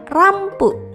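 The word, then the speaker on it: ランプ: Berikutnya adalah gambar lampu atau dalam bahasa Inggris adalah lamp. Dalam pelafalan bahasa Jepang adalah rampu.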